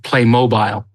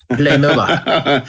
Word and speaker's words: Playmobil: So I think if you're in England, you have to pronounce it Playmobile. Playmobile.